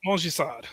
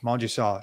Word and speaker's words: Montgisard: in this battle of I always mispronounce it. Mojisad. Mjisad. Okay. Mjisad. Yeah. It's a French pronunciation.